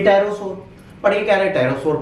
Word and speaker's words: Pterosaur: तो क्या पढ़ेंगे पि टेरोस पढ़िए कह रहे टायरो सोर पढ़ो पहले बता दो पी साइलेंट है ना लिखो सर अंग्रेजी